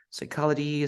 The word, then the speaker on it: psychology: p in this case the p is silent it means that you don't pronounce the psychology psychiatrists psychic psyche resit